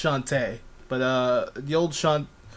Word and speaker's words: Shantae: of a question is the old shantae shanti it's pronounced shantae but uh the old